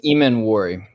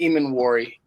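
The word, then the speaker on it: Emmanwori: gonna start with Nick I do not know how to say his name I I mess it up it's Nick eeman warry so it's Nick Ean warry and I I heard that on the broadcast and some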